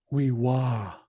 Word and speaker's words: wewa: will get the accent so if it was wewa then there would be an accent on top of this I but the accent is on this first a here so that means they going to be rising up towards the end of it so it's wewa wew so I just wanted